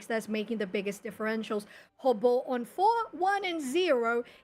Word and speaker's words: Robo: call them again correctly hobo hobble yeah interesting it's like it's so it's like robot but in Portuguese that's what his name